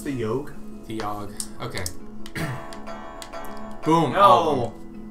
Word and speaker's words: Yawhg: It's pronounced the Yawhg.